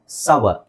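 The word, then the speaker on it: sour: right okay next ಬಂದು ಎಸ್ ಓ ಯು ಆರ್ ಇಟ್ಸ್ ಸೋರ್ ಅಂತ ಹೇಳ್ತಾರೆ ತುಂಬಾ ಜನ ದಟ್ಸ್ ರಾಂಗ್ ಸವರ್ ಏನು ಸವರ್ ಸವರ್ ಓಕೆ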